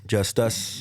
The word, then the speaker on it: JUSTxUS: We are, Just Us. representing Just Us. Just sir. X us. The X is silent, representing the 90744.